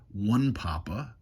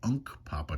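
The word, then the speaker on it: Hunkpapa: really butchering names uh the chief everybody called him Chief one Papa but that was a mispronunciation of the tribe he was actually the chief of the Unk Papa tribe so he's been known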